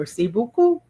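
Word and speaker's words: merci beaucoup: M E R C I B E A U C O U P Merc Mercy Buu.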